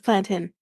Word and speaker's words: plantain: people out there who want to say plantains it's plantin it's plantin not y'all don't sit your